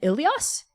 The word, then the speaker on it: Ilias: Is it pronounced Asaya and Ilias and Oktai? Or are there different ways to pronounce them? That's all correct.